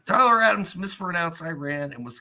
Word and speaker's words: Iran: the Iranian people but you're pronouncing our country's name wrong our country is named Iran you know what I